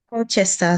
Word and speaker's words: Colchester: Colchester. Did I get that pronunciation right? Colchester. Shout it for me. I want to get it right. Colchester.